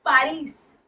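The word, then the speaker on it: Paris: German air won't in पारिस तो पारिस pronunciation देखिए पारिस आ होता है ना ये इसलिए सो ही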